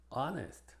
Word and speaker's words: honest: Algunas consideraciones es que es muda al principio de estas palabras, que no son muchas. Honor, our, honest, air, herb. Recuerden que cuando la H es muda, entonces la pronunciación empieza con una vocal.